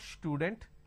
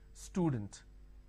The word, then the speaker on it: student: For example, if I have the word which is student, lot of people make a mistake and they pronounce this with a sh. Student. It's not student, it is student.